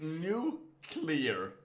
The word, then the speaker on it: nuclear: it like that nuclear the world that is new clear not nuclear i always forget that